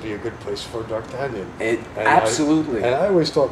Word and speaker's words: d'Artagnan: this is for the world how would you pronounce it d'Artagnan doc do you say again door can be a dark dark tanyon yes dark canyon okay that's actually that's what